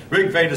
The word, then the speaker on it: Rig Veda: trying hard not to be disrespectful any religion Rick Vader spelled r-i-g-v-e-d-a for those who I see some of you in the back having a hard time seeing it uh Rick Vader again I hope you won't just take my